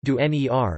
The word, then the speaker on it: ντονέρ: It was originally called entener, pronounced "dener" in Greece.